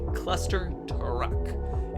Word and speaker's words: ClusterTruck: I am saying it correctly. ClusterTruck. It's with a T, and it's basically a puzzle platformer where one jumps back and forth between trucks.